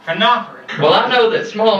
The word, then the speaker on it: phenolphthalein: And it's pronounced phenolphthalein.